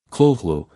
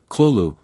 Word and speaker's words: Cthulhu: In his letters, Lovecraft provided multiple pronunciations, Cthulhu, Cthulhu, various approximations, each inadequate.